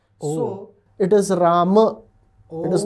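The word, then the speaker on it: राम: with Sanskrit pronunciations okay so imagine that I write R and a mo okay one after the other d nagari d nagari script Ro and mo how would you pronounce it uh RAM can you imagine any other pronunciation of that you can't no because most modern North Indian languages they shorten the end right because really what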